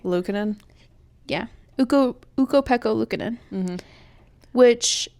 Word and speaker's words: Luukkonen: Luukkonen?